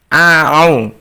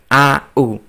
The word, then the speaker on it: أعوذ: Anak-anak, ketika membaca a'au ada huruf ain, maka kita membacanya a'au, bukan a'u.